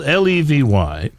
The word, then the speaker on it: Levy: think he is and his name is strangely pronounced it's spelled l-e-v-y and he would like it said Levy that's right is that